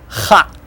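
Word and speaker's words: х: Then ha, ha, h, ha. Kind of rougher sounding than English H.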